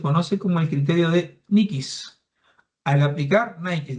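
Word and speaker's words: Nyquist: Esto se conoce como el criterio de Nikis. Al aplicar Nikis, no se pronuncia Nikesis la pronunciación.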